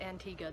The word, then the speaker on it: Antigua: I feel like it depends on where you're from with how you say it, but they say it Antigua there, so I'll call it that.